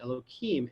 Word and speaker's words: Elohim: the left the name written youhave Ave and pronounced Elohim and this is the secret of bina okay